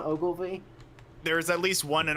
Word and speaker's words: Ogilvy: have to talk about Ogilive Maurice Hedgehog. So let's not do that. Fucking Ogilvy. Ogilvy, that's the one.